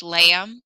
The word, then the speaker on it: lamb: this is in English lamb nobody says the letter B knife why is that